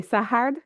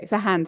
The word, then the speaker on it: Sahand: Et avec, c'est Sahard, c'est ça? Non. Oui, OK. oui, ça s'écrit Sahand. OK, Sahand, du coup.